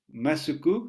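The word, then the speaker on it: マスク: Masuku, si vous le prononcez en réduisant un petit peu le ou final, masque, et le S, masque, c'est la prononciation japonaise du mot masque.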